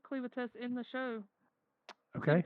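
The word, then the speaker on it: Clevatess: We have Clivates. Still not sure that's the correct pronunciation, but that's what we're going for. It is Cleavitas. He says Cleavitas in the show. Okay. Cleavitas.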